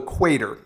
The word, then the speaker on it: Cuater: And this is a shoe called the Quater, except it's spelled Cuater.